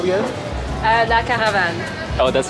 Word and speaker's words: La Caravane: La Caravane.